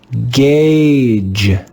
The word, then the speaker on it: gauge: In this word, the digraph AU is read with the sound A, A.